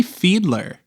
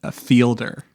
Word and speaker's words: Fiedler: And joining me once again, I have Fiedler, who is probably a little bit shocked that I actually pronounced her name the first time. How many takes did we do before where I said Fielder?